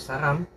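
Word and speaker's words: 사람: R po kasi ito, R or L. Depende po sa sinusundan niya. Pag first po siya ng syllable, letter R po siya. Pag dito lang po siya napunta sa ilalim, nagiging L po siya. Pag dito po siya, nagiging L.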